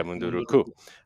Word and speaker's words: Munduruku: And there's one particularly hard-hitting episode with, I'll probably mispronounce it, but I think it's the Munduruku. Yeah, Munduruku.